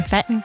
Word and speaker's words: Fête: So Fête rhymes with bet. Most people always call it like feet.